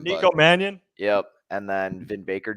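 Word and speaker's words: Mannion: remember how to say his last name Nico Manion yep and then Vin Baker Jr who I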